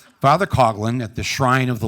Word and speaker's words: Coughlin: Back in the day when I was growing up, Detroit, home of Father Coughlin, sorry, that's how it's said in the Midwest. Father Coughlin at the Shrine of